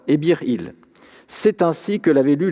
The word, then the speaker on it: Ebih-Il: Ainsi, N et T, lorsqu'ils sont ensemble, peuvent se lire Ebir, et pas nécessairement syllabiquement NT. Le signe il est en revanche syllabique, c'est-à-dire qu'il se lit pour sa valeur phonétique, donc il. Le nom de l'individu représenté donne alors Ebir-il.